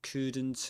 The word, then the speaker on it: couldn't: say it couldn't have, couldn't have. Yeah, here. Here it is. We said that's couldn't. We don't pronounce the the the L there, right? We don't say cool cool. we say could couldn't couldn't.